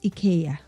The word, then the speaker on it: IKEA: Um, some call it IA, right? So, but I did ask the people from the store when they opened up. I said, "How do you pronounce it?" So they said in the US or somewhere else they say IKEA but actually where we are it's IA right so it's okay.